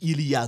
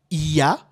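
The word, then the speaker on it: Iha: Je ne suis pas en train de dire il y a, non, c'est Iya, Bastet, Khonshu et Djéouti.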